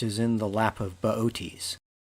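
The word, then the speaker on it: Boötes: in the lap of baotis if you saw his name spelled out you'd want to pronounce it booties but it's beauties he's got a big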